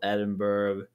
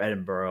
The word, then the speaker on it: Edinburgh: UK, you could fly from Belfast, Manchester, Liverpool, Edinburgh, or Edinburgh, I think is how they pronounce it over there, and London.